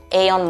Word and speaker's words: Aeon: Grocery is a bit easy to get grocery here because there is a big mall called Aeon Mall or Ion Mall, depends on how people pronounce it.